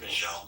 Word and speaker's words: Vishal: Am I pronouncing that right, Vishal? Yes.